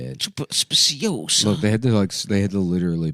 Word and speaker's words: speciosa: Speciosa.